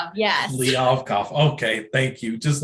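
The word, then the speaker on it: Kliavkoff: The picture of Kevin Warren talking to George Kalibov, I can't pronounce his name. Liavkov, yes. Liavkov, okay, thank you.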